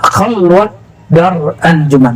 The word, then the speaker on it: khalwat dar anjuman: Nah, khalwat dar anjuman bukan khallah ya. Orang Persia tidak bisa baca ah itu dalam pelafalannya walaupun di hari-hari bisa khalwat dar hari Jumat.